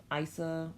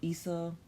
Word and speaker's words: Isa: all feel the more comfortable saying it ice ax or ISA I really think at